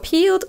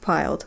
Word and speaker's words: peeled: переводится глядеть в оба слово peeled он произносит как piled амиция поправляет его и говорит что правильно peeled Ну то есть бледными